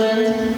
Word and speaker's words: Evelyn: Pronounced Evelyn? Yep, Okay, I wasn't sure if maybe it was a three-syllable name. Evelyn All right, take over.